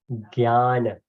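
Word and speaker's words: ज्ञान: J is pronounced as Gay. So it's a J-N. If we pronounce, it becomes Jnana rather than Jnana.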